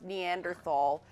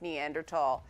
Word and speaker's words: Neanderthal: One of the things that I've learned from covering Far Cry Primal is it is not pronounced Neanderthal, it's pronounced Neanderthal.